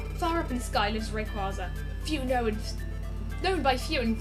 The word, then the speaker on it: Rayquaza: and by the way I absolutely refuse to pronounce red quaza as way quasar so that's it however far far up in sky lives Rayquaza humanoid known by few